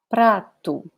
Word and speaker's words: prato: Prato. This is a different R. This one will be pronounced like this by Brazilians in general.